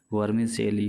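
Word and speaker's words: vermicelli: Weather there is milk and sugar for वर्मिसेली इन the house और नॉट, ये वर्मिसेली मतलब सेवइयाँ, ये लिखते हैं CELLI, लेकिन प्रोनाउंसिएशन इसका वर्मिसेली होता है, वर्मिसेली।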